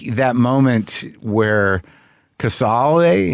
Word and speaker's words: Cazale: But it's just the intensity of it, and just like that moment where Casale, is that how you say his name? John Cazale. Yeah, Cazale.